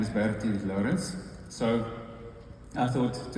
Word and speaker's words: Bertie: My name is Bertie Lourens. So I thought to help Brandon next time, that's the way you say my name. Bertie.